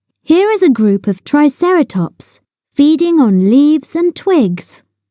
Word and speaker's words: Triceratops: three horned face how do you say it Triceratops say triera tops in the swamp a muddy swamp is a